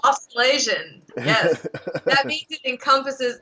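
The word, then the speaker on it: Australasian: it's austral Asian right like it's not it's austral Asian yes that means it encompasses New Zealand hates this but if you say austral Asian it means Australia and New Zealand and they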